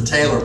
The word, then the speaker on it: TAELR: Hence the TAELR, pronounced like sewing, like a TAELR.